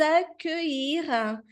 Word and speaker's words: accueillir: Nous sommes heureux de novo o U, de vous accueillir, de vous accueillir. Então, ILL tem esse som de I, esse sonzinho do I um pouquinho mais prolongado. Accueillir à bord de ce vol.